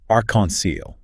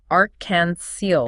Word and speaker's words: arc-en-ciel: So how do we pronounce that? Arc-en-ciel. All is one word. Arc-en-ciel.